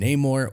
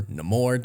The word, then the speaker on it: Namor: Now, Marvel has been kind of setting up the mutants in the MCU with Kamala Khan and Namor, or Namor, depending on how you want to pronounce him.